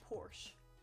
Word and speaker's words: Porsche: posh poor che porche we're saying Porsche but it looks like Porsche a because it's spelled funny we're making fun of